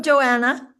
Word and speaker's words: Joanna: trick yeah yeah welcome Joanna hi Miss Johnson can I just ask you is it Johanna or Joanna Joanna Joanna Joanna okay so don't silent h h silent yeah I've had both for